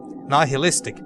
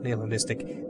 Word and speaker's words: nihilistic: Extra sanity can be gained by nihilistic, that's how you say it, not nihilistic, nihilistic dialogue choices.